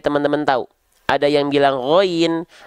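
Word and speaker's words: غين: Ada yang bilang ghain, ada yang bilang ghin.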